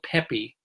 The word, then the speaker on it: Pepe: It's going to be directed by Neil, and I believe it's pronounced Neil Pepe, P-E-P-E, who has been part